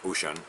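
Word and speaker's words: Wouxun: pick up a radio like this ocean is pronounced ocean it's spelled walk song you can pick up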